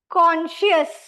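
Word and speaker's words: conscious: कॉन्शियस इसका sound is एस ए लेकिन spelling में एसए कहीं नहीं आता है।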